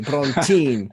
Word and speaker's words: Brontén: Brontén, yeah. Brontén.